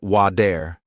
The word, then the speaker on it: water: Americans don't always pronounce the T sound clearly. For example, water sounds like wader, better sounds like be dare, city sounds like sid-e.